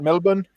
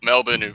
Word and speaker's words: Melbourne: So yeah, Melbourne would be how we say it. But like a lot of Americans go with the Melbourne.